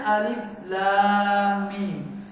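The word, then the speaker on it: الم: Nah, Bapak Ibu sekalian rahimani wa rahimakumullah, ini kita membacanya alif lam mim. Karena pada 3 huruf ini tak mengandung harokat, tak memiliki harakat. Harakat itu kan Pak, dia berupa a, i, u. Maka dibaca dia hurufnya.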